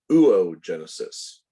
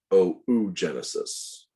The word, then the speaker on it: oogenesis: of that mature egg it is not pronounced ooo genesis although that's the way